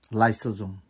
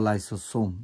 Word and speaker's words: lysosome: লাইসোজোম লাইসোজোম অথবা লাইসোসোম, যেটাই উচ্চারণ করো।